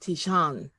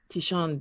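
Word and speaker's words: tignon: t-i-g-n-o-n but it's pronounced because it's french it's pronounced tishan tishon bill well that was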